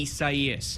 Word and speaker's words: Isaias: THE STATE PREPARES FOR HURRICANE ISAIAS (PRONOUNCED EES- AH-EE-AHS) AND IN GEORGIA --